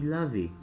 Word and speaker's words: lavé: E se for um sujeito feminino, vai acrescentar a letra E no final, tá? Mas a pronúncia é a mesma. Je me suis lavé.